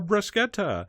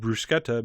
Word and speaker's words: bruschetta: four brush Jettas and I only said bruschetta because I've been saying bruschetta and the same people that were annoyed by you calling it bruschetta will be just as annoyed I'm mispronouncing the U but you know what